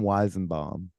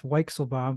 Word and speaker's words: Weichselbaum: It's Weichselbaum. Even I said it wrong, but you said it so wrong that I couldn't even say it right. It's Weichselbaum, but Weisenbaum is pretty close.